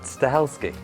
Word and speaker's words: Stahelski: it is going to be produced by Chad stahelski there you go that's how you pronounce it I was struggling a little bit